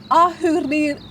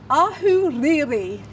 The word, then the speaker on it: Ahuriri: Is Ahuriri. Ahuriri. Ahuriri. Really sorry if that isn't pronounced properly, but I'm giving it a good go. Yeah. It's beautiful, but you've got to get your tongue right on the riri.